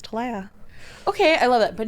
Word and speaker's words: Talea: confused with Tia or Talia Talia yes yes I'll set the record it is TOA TOA I like to say like ladies to like ladies um